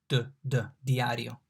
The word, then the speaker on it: diario: The D here is not pronounced very differently from English. Indeed, like D in dol, diario.